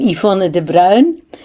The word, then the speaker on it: Yvonne de Bruijn: uh introduce yourself uh briefly thank you I'm Iona de brown you pronounced it better than most of the French